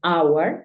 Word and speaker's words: hour: House, home, horse, pero hay algunos casos como cuatro palabras en las que la H es muda. Por ejemplo, hour, que es hora.